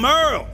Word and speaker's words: Merle: Hey there, I'm Merle, spelled like Hurl.